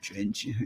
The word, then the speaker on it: Drensh: I'm not sure if that's how his name is pronounced. Drench. Drench, yeah.